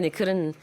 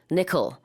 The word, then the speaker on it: nickel: 거기서의 니켈은 뭐 어떤 뜻인지는 잘 모르겠지만 그룹 이름에도 들어가네요. 자, 발음 주의하시면 되겠습니다. 우리는 니켈 하지만 영어로는 nickel 이렇게 발음한다는 거.